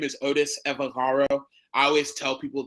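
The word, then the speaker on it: Evbagharu: So my name is Otis Evagaro. I always tell people the way you see it is the way you say it, but the B is silent. So Evagaro.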